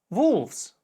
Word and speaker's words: wolves: Например, a shelf, shelves, a knife, knives, a wife, wives, a wolf, wolves. Как ты мог заметить, окончание V и S в данном случае приобретает звук Z.